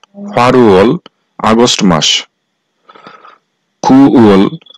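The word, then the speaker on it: 팔월: মাস তথা আগস্ট মাস ফালল এর সঠিক উচ্চারণ হবে ফারুয়াল ফারুয়াল আগস্ট মাস কুয়েল কু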